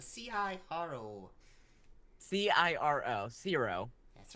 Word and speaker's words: Ciro: Ciro. It's spelled C-I-R-O.